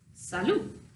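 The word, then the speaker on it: salut: hello looks like this Saloon so again the thing about French is that you are not pronouncing the last consonant so it's phonetically is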